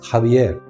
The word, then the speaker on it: Xavier: Xavier's family lived in the castle of zavier pronounced jaier which was an impressive